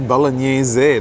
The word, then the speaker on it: bolognese: It's actually bolognese, that's how you say it, spaghetti al bolognese.